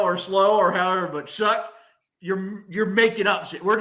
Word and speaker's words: Shuck: How the fuck is that Shuck?